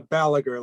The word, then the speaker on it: Balaguer: a little more yes it's a ballager like gallagher with the b great thank you so